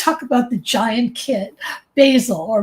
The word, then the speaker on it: Basil: I want to talk about the giant kid Basil or Basil. I don't know which which way do you pronounce it yourself? It's it's Basil and he's named after the the Northstar.